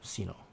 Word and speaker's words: Cinno: Is that how you pronounce it? Cinno? Yes, Cinno.